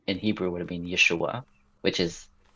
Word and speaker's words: Yeshua: Because I thought it was supposed to be pronounced Yeshua. It's Oh, it Yeshua. would be Yes, it is Yeshua, but Joshua is Yehoshua.